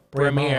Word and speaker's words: Braemar: How do you pronounce that? Braemar.